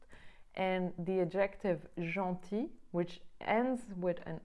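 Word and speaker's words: gentil: pronounced and the adjective Jean TI which ends with an L the L does not get pronounced even if it appears in the word careful so I hope this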